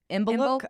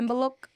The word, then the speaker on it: Imbolc: Another festival is called the Imbolc, I think. Imbolc. I tried to write out the pronunciations for us because I was sitting with Google Translate, but it's like Imbolc.